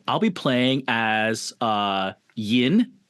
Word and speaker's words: Yin: I'll be playing as uh Yin. It's it's spelled vin, but if you're cool and you're like in the south, you can say yin and like really draw it out and that way it's really fun for everyone.